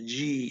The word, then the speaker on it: de: of that's d e looks like de and i think it's pronounced dead by some people in in brazil if they're talking slowly but everyone goes to g if they're talking fast some people like this speaker always say g for okay the d interface